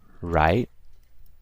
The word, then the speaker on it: write: In the word write, you don't even listen or you don't even pronounce the E. So it's basically silent.